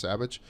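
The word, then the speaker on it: Savić: It's Savic, but it's pronounced Savage.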